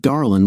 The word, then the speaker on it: Darlin: "Hi, my name is Darlin," she said, pronouncing it Darlin with a slight drawl.